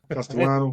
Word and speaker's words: Castellano: Castellano. Got it right. It's spelled like Castellano, but you don't pronounce it that way because of Colombia.